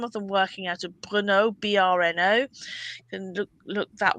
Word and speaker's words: Brno: into Czechoslovakia, some of them working out of Brno, BRNO. You can look that one up. Brno, I think it's pronounced.